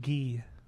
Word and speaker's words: Guy: We've been calling him Guy for years but now it's actually Gee. That that's how you pronounce that.